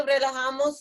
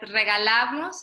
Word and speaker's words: relajamos: Okay, relajamos los hombros. Relajamos. Because regalamos is gift. Oh yeah, relajamos.